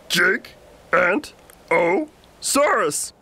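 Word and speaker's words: Giganotosaurus: Dino who ever lived you say my name like this Jake and O saurus it means giant Southern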